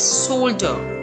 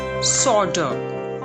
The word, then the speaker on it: solder: british pronunciation it is solder with r silent and in american pronunciation it's solder with l silent british solder american solder